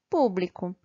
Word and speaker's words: público: sábado e a palavra público sa é a sílaba mais forte pool é a sílaba mais forte da palavra público ok e agora vamos